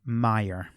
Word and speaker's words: Meier: I have always heard it said Sid Meier.